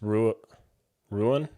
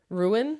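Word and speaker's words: Ruan: could be Ryan no it's um it's ruin ruin because that's how I mean spelled r-u-a-n the only reason I'm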